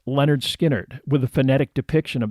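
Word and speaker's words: Lynyrd Skynyrd: letters to that end the first album was called pronounced Leonard skinnard with a phonetic depiction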